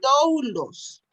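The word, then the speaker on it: δοῦλος: La se dulos, escribe ajá. doulos, pero se pronuncia Doulos.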